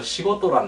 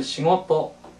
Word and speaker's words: 仕事: 같이 한번 몇 번 발음할까요? 시고토, 시고토 또 달리하면 싱오토, 싱오토 또는 시고토, 시고토 다 마찬가지입니다.